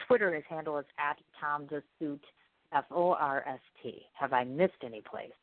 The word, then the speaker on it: Forst: It's spelled differently than it actually sounds. His actual name is spelled F-O-R-S-T. It's pronounced Forst, like it's in Force the Door Open.